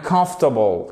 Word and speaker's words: comfortable: So, the hotel was clean and comfortable. Comfortable. Qu'est-ce qui se passe? Vous mettez l'accent sur la première syllabe.